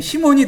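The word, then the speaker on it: Σίμων: 거 같아요 시몬이 아니고 그니까 C 같으면은 여기 이제 그 시그마가 하나 더 붙든지 그렇게 되고 영어는 그냥 S 하나라도 이렇게 C 이렇게 발음하는 경우가 있잖아요 아니면를 발음하지 그냥 우리말 시옷이 더 가까운 거 같습니다 시몬 그 시 이 되겠죠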